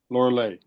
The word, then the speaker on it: Lorelei: Lorelei, Laura Lay. Oh, Lay is in like Hawaiian lay, Lay.